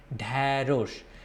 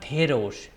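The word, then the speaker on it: ঢ্যাঁড়স: The first letter should come from nose, dharosh.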